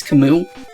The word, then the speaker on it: Camus: wait was that wait was that kamis or camus or however you want to say his name apparently how you say his name is kamu but honestly it's spunk canvas if you're reading